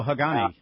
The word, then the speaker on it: Hagane: Is it pronounced Hagane? Oh, Hagane, yeah.